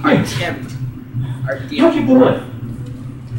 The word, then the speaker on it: Artem: It's actually pronounced Artem.